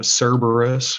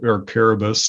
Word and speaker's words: Cerberus: they have the hydra uh cerberus or caribus depending on how you pronounce them the chimera the sphinx